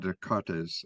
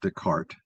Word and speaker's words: Descartes: objection to the but it's not Dart. It's Dart. Oh, okay. There's no E. The E S is French. The E is not pronounced.